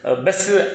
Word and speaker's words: Besse: BESSE பெஸ்ஸின்னு நம்ம ஆட்கள் எழுதுவாங்க, அதை ஃபாதர் பெஸ் அப்படின்னு தான் ஃப்ரெஞ்சில் உச்சரிக்கிறாங்க.